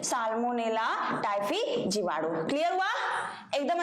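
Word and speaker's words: Salmonella: just इनके सामने होगा साल्मोनेला साल्मो ने ला ठीक है मेरे वर्ड इस तरह से प्रोनाउंस करते हैं ताकि आपको चीज समझ में अच्छे से क्लियर आए कि क्या बोल रहे हैं है ना ये ठीक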